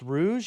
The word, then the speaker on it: Rouge: Someone said it's pronounced Rouge.